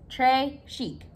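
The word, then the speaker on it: très chic: a bracelet tray chic you say it like this trey chic means very fancy and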